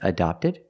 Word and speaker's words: adopted: Are their kids adopted? That's right, their kids are adopted. So remember the pronunciation difference. Adapted and adopted.